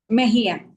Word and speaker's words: Mejia: Mahia.